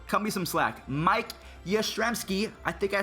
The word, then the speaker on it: Yastrzemski: so you know cut me some slack Mike Yastrzemski I think I said it about as well